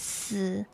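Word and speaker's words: 四: Yeah, cuz in Chinese four is pronounced as s and death in Chinese is s.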